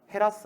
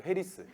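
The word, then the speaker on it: Harris: 보지 말고 차익지대, 절대지대, 위치지대, 입찰, 마찰비용, 도시공간구조론, 동심원 이론, 선형 이론, 다핵심 이론, 헤라스 아니고 헤리스. 헤라스.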